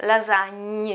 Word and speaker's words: lasagna: Try to take this word and pronounce it until you can say gne, lasagna, gne, gna, okay, lasagna, lasagna alla bolognese, lasagna alla bolognese, okay?